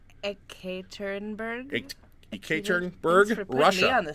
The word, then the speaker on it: Ekaterinburg: How do you pronounce? Ekaterinburg.